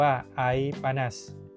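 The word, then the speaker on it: ais panas: ก็ ต้อง สั่ง ว่า ไอ ปนัส อ่าน ว่า ไอ ปานั ไอ แปล ว่า น้ำ ปนัส ก็ คือ ร้อน ง่าย ๆ ครับ เมนู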